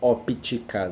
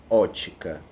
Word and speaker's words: ótica: ótica das cores gente ocupe é mudo viu então não se fala mistura óptica não mistura ótica viu raquel não é óptica e ótica tá beleza tranquilo então